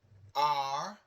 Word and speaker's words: hablar: Hablar. Hablar means to speak. So hablar. Don't worry about the H.